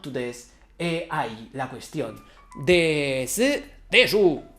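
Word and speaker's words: です: To des or not to des.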